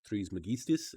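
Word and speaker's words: Trismegistus: it off with hermes tris magistas because i just finished playing assassin's creed odyssey and hermes is in it and his last name is threes megistis that's how it's said sorry i'm going off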